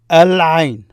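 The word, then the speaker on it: العين: Al-Ain, I. The word for I is Ain. The I, Al-Ain, Al-Ain. Notice you pronounce the L there, Al-Ain.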